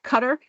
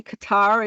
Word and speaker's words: Qatar: the the cutter and I do believe the British pronounce it cutter and we say Qatar and that in America and that's what the difference is apparently Trump also got